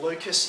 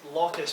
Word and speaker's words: locus: kind of thing um you can pronounce this lucas if you want i pronounce it locus because after this many